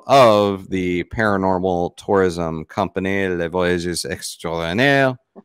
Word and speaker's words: Les Voyages Extraordinaires: the paranormal tourism company, Les Voyages Extraordinaires. And you can say it properly, since I'm not. No, but I love the way you say it. Les Voyages Extraordinaires. Les Voyages Extraordinaires.